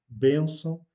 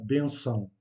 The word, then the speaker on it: benção: Donc l'accentuation est faite sur la première syllabe, benção, et on ne dit pas benção.